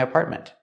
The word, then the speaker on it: apartment: The first T in the middle is a stop T. Apartment. Don't say apartment. Apartment. And the T at the end is also a stop T. Apartment. You can say apartment or apartment. You can pronounce a T, but usually we don't.